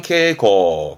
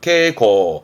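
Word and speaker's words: 携行: 다니는 거 즉 가지고 다니는 휴은 가지고 다니는 발음은 케고 케고 그서 코스는 가지고 다니 미에서 어찌보면 왼쪽에 휴대와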